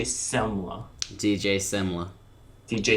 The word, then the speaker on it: Semla: say his name correctly it's not dj Selma it's DJ semler DJ semler DJ s